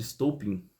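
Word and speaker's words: Stolypin: O Stolpin ele era o primeiro-ministro do governo de Nicolau II, que é o Piotr Stolpin, se for pronunciar mais correto, né?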